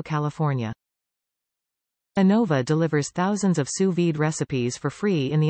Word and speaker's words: sous vide: via your smartphone what to cook sous vide pronounced sous vide cooking offers the perfect level of doneness for